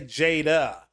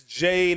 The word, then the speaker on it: Jade: I assume it's Jade. I always would say Jada, but I believe it's Jade Raymond.